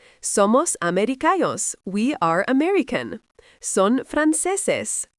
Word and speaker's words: franceses: Somos we are American son Frances pronounced frances they are French notice that with nationality